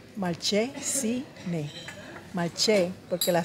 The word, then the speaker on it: Malcesine: Caminamos un rato aquí por Malcesine. Pero con S. Malcesine. Pero ¿por qué se dice Malcesine si es con S? Malcesine. Malche, porque la C de casa se pronuncia dice C primero.